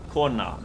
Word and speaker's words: Kona: kona there it is corner the game like the title of this game means woman in icelandic and it's pronounced corn now okay i gotta go